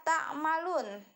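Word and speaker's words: تعملون: Jadi bukan dibacanya misalnya bima kuntum ta'maluna, tidak, tapi dibacanya bima kuntum ta'malun. Jadi berhenti di sana karena berada di akhir kalimat gitu.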